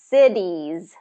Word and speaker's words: cities: So first syllable stress, cities. Cities. So what's tricky about this one is you have the S and the Z, and then you have the short I and the long E.